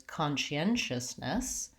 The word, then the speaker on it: conscientiousness: then if I'm adding our requested word was conscientiousness then I have to just add an extra